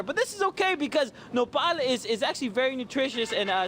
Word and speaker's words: Nopal: The Festival de Nopal is happening in series next weekend, but we couldn't wait that long to talk about it.